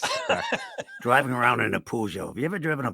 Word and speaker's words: Peugeot: Peugeot, yeah. No, it's not a hard G. It's a soft G.